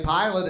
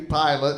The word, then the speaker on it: Pilate: like when you say pilot, it sounds like airline pilot. So you might think it's spelled P-I-L-O-T.